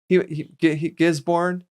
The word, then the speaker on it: Gisborne: You mentioned, I think he was traveling to Gisborne. You did mention Gisborne. Yeah. Gisborne. I don't know how to say it. Gisborne? No. Gisborne? No. I don't think the R is as emphasized as we do it.